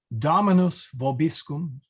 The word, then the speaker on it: Dominus vobiscum: So the correct pronunciation is Dominus vobiscum, but you'll probably hear me say Dominus vobiscum.